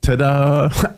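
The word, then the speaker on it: todah: all about that but the word in Hebrew is Tada I mean literally if you pronounce it it's Tada and and that first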